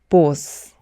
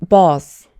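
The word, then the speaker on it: boss: 반응 중에 하나인데요 제가 만났던 분들 대부분은이 단어를 보스 보스 이렇게 발음을 하시더라구요 하지만 여러분 보스는 콩글리쉬 발음입니다 모모는 오후 소리가 나지 않고 어 소리가 나기 때문에 보스가 아니라 버스 버스 버스 이렇게 발음이 취합니다 비즈니스 상황에서 정말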